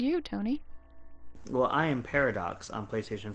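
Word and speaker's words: Pairodocs: You could spell it like this, P-A-I-R-O-D-O-C-S. Like a pair. Like a pair of doctors. Exactly, but like Irish. O with a little... Yeah.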